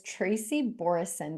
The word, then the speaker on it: Tracy Borreson: I am your host, Ralitza Spassova, and joining me today is Tracy Borreson. Did I pronounce that correctly?